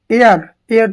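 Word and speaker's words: heir: तो आपको बनना ही इज एयर टू the throne. इसमें जो एच होता है वो साइलेंट रहता है, इसमें जो एच होता है वो साइलेंट रहता है, ध्यान रखेंगे।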